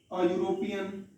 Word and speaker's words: European: A European, you can use also. Because E is given here, but the sound is U, and you are not